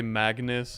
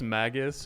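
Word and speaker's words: Magus: I say Magnus and I know it's Maggus.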